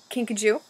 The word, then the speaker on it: kinkajou: And it's a kinkajou.